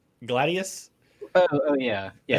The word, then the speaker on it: gladius: at that part oh yeah how do you pronounce uh the word for knife i don't remember the word for knife it's gladys right gladius oh yeah yeah it's a sword again in